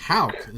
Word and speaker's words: Houk: Houk. Am I pronouncing it wrong? Houk. Yeah, okay. No, you got it right.